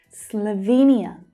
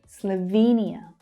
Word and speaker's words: Slovenia: Slovenia. It has the same stress pattern. Slovenia. It's that long E vowel sound. Slovenia.